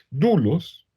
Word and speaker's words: doulos: etes en ese orden dulos se escribe doulos dulos se puede se